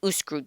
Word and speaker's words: Uscru: Sorry, I got to ask Google Translate how to pronounce it. USCRU. The Uskru District.